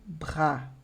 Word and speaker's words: bras: Nesse exemplo aqui, eu tenho bras. Bras. Vê que eu paro no A, não pronuncio esse S, d'accord?